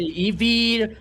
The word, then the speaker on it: Eevee: well I wanted to ask you is it Ivy or Eve? Been saying it wrong the whole time. It depends. It depends on the place you know. Here we we Okay. Here in Brazil we say Eevee.